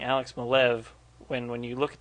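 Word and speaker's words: Maleev: asked him I said how do you pronounce your name he said malev so I'll take it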